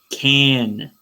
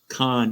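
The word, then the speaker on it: Cannes: will not open at connist film festival in May but it's still full screen can canned Film Festival you butchered that pronunciation there's two ends Khan It's French it's French all the way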